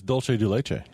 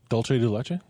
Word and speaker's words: dulce de leche: I think it's dull thing I think it's dulce de leche no it's definitely not Dolce Dolce de leche caramel don't say base which what in Spanish